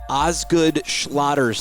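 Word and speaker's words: Osgood-Schlatter: right we're talking about I'm going to say it slow cuz everybody has a different pronouncing it and I usually do it wrong ozg good schlatter's disease how close was I that was great all right when we're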